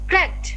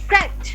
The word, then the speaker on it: cracked: এবার সাথে সবাই উচ্চারণ করেন cracked. Cracked. উচ্চারণ করো cracked.